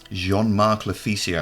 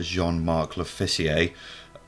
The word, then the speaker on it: Jean-Marc Lofficier: Jean-Marc Lofficier, I think you pronounce that.